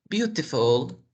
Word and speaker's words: beautiful: Beautiful, beautiful. T entre dos sonidos de vocales. La voy a pronunciar como si fuera una R.